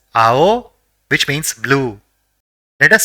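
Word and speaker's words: あお: love let us see the second word the first character in the word is ah and the second is O so it will be pronounced as AO which means blue let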